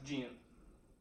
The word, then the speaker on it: GHIN: The GHIN, pronounced GIN, which is an acronym